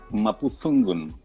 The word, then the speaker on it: Mapuzungun: Siempre, mira, lo practiqué para pronunciarlo bien y no me va a salir. Mapudungun, así es. Mapudungun o Mapuzungun.